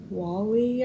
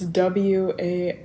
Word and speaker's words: Wale: my phone, Bad by Wally. I think that's how you say his name. It's Wale.